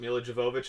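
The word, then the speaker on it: Milla Jovovich: Mila Jovovich and her weird nipples are going to be Mila in it.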